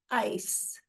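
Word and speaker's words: εἰς: And in the Greek, it's pronounced ice.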